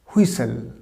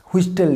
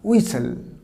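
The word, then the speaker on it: whistle: এবার দেখো পরের ওয়ার্ডটা, দেখো এই ওয়ার্ডটা হুইসেল, হুইস্টেল না, টির উচ্চারণ হবে না, উচ্চারণটা কী হবে? হুইসেল। তাহলে হুইসেলটাকে, এবার এটাকে, এটারও একটা ডুয়াল ওয়ার্ডসের মিনিং আছে। যেমন একটা হচ্ছে ব্রিটিশ প্রোনাউন্সিয়েশন, একটা হচ্ছে আমেরিকান প্রোনাউন্সিয়েশন। দেখো ব্রিটিশ প্রোনাউন্সিয়েশন এটাকে হুইসেল বলা হয় না, উইসেল। উইসেল একটা হু না, উইসেল। আর আমেরিকান প্রোনাউন্সিয়েশন এটা বলা হয় হুইসেল। একটা উইসেল, একটা হচ্ছে হুইসেল।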